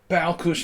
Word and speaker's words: Balkus: It's a Hungarian pronunciation thing. It's hard for me as an American to get used to saying the S like a sh sound.